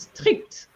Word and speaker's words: strict: you said strict is strict strict here you have to pronounce the T even though there's no e okay it's just the